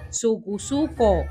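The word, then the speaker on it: Sucusuco: se baila y cuidan su pronunciación terminada en O, Sucuzuco, así como lo defendió su rey, para que rimara con los cubanísimos Conuco y Bejuco.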